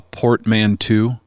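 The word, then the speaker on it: portmanteau: Yeah, it is a uh I don't know how to pronounce this word. A portmanto.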